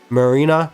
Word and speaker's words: Marina: Marina Tendouji. That's her full name, and of course it rhymes with Sarina, which is kind of funny.